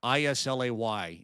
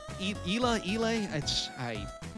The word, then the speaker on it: Islay: I-S-L-A-Y is how it's spelled, and I believe it's pronounced Islay, Isle of Islay.